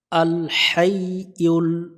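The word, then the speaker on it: الحي: আল হাইউল আল high এখানে লম্বা হা আছে এটা অবশ্যই আমরা সতর্কভাবে উচ্চারণ করব হাই এখানে হাই পড়া যাবে না ইউল অনেকজন এখানে ভুল করে উল পড়ে ইয়া পেশ ইউল আল হাইউল এখানে কাই পড়া যাবে না ইউ তিন আলিফের টান দিব পেশের বামে ওয়াও সাকিন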